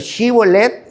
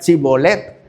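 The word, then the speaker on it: shibboleth: Esa de chivolet decían cibolet y pues sabían que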